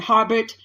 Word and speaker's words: Harbut: Now, I've heard it pronounced Herbert and Harbut.